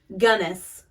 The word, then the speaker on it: Gunnis: Because I think I always said it as Guinness. But it's Gunnis. That's For some how reason, he I spells recognize it as Guinness, but it could be Gunnis because it's spelled Gunnis right there.